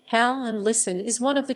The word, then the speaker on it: Halland: halland helen's swedish pronunciation hal and listen is one of